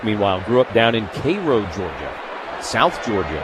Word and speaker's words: Cairo: Pitch Low two and two because Cairo, Georgia, spelled, by the way, like Cairo, Egypt, but pronounced Cairo by the is where Jackie Robinson was born.